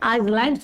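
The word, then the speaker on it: islands: हैं तो जितने भी आइलैंड्स होते हैं इसमें देखो डियर ये जो सस है ना वो साइलेंट हो जाता है आइलैंड्स होते हैं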